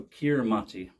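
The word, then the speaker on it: Kiritimati: the history behind that so kiramati that's how we pronounce it in English is one of 33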